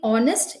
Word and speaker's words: honest: it so we did honest in which h is silent we did plummer in